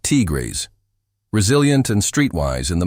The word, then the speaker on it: tigres: Dominican women speak about sabrosura, flavor, of life, and often describe black men as tigers, pronounced tigres, resilient and streetwise in the most complimentary sense.